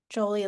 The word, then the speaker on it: Jolie: Jolie like Angelina, like Bobby for those that follow baseball from years ago.